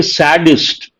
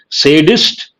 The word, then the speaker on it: sadist: king-size ego egoist sadist people mispronounce this a lot of people say saddest sadism no sadist and sadism when others